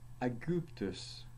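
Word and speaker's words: Aegyptus: When it's a long vowel, it's u, as in aguptus, aguptus.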